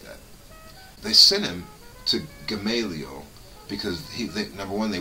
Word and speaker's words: Gamaliel: under a theologian named Gamaliel or gamble however you want to pronounce that I call it Gamaliel who was one of